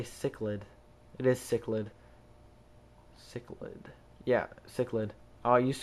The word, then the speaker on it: cichlid: It is Cichlid. Cichlid. Yeah, Cichlid. I used to call them Chichlids before I knew how to pronounce it, but it's pronounced Cichlids.